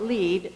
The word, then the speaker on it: LEED: on a weekend we decided to call it lead Leadership in Energy and Environmental Design and for the first